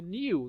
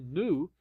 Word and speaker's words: new: O new, né, ou new, na pronúncia americana, você pronuncia como nu, tá?